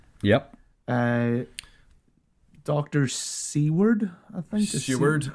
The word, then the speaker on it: Seward: Seward, I believe, is how it's pronounced.